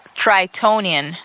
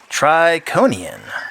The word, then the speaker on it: Tritonian: is hot tritonian what it's pronounced tritonian that's what I said tronan tritonian with a t in the Middle come on Aurora does